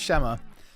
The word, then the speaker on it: Shema: spell that at shema.kama so your name's Shema a lot of people when they see your name they don't always call you shamma you've probably been called